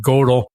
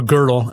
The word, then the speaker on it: Gödel: And then the second guy was Kurt Gödel, or Gödel is the way I'd pronounce it.